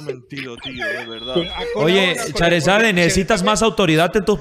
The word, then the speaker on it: Charizard: Así como suena Charizard, Charizard, así tal cual. Pol, ¿cómo ha mentido? ¿Pol se da cuenta? Pol, ¿cómo ha mentido, tío? De verdad. Oye, Charizard, necesitas más autoridad en tus palabras.